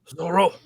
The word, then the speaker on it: Zoro: It's Zoro, right? Zoro. It's like yeah. So you got to really accent the R or whatever.